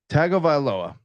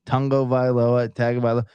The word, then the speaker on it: Tagovailoa: it and I've said it a thousand times tagovailoa right why why is the UN in there Tango violoa like someone explained to me pronunciations of Hawaiian